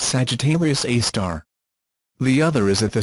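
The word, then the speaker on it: Sagittarius A*: our own Galaxy which is known as Sagittarius pronounced Sagittarius AAR the other is at the center of a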